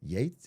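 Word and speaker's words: Yeats: Uh, oh, it's Yeets. I'm sorry. I thought it was Yeets. Uh, is it Yeets? Yates? How do you say his name? Is it Yeet? Like the rapper Yates? like Bill Gates, but it's Bill Yates is what you're saying.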